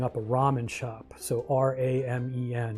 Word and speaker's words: ramen: So R A Men, it's a Japanese word, but it's pronounced ramen. And of course the UI was pronouncing it Raymon because it's not an English word.